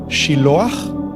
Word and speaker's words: Siloé: los ojos en un lugar llamado eh Siloé. En hebreo se pronuncia Shilo y ahí Juan,